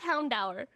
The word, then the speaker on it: Houndour: talking about houndour and I don't care what anyone says it's pronounced houndour okay um Gumi did you